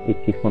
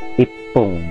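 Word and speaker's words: 一分: Nah ichi fung kan dasarnya kan, cuman karena ini spesial bacanya bukan ichi fung tapi ipung.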